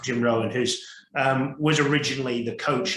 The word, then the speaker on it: Jim Rohn: There's a great, it's not quote, but it's from Jim Rohn, who's Jim Ron, you would see it in English, in England, but in America, I believe it's pronounced Jim Rohn, who's was originally the coach of Tony Robbins.